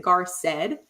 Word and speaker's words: Garced: funny story about that I've always pronounced it gar said and my dad always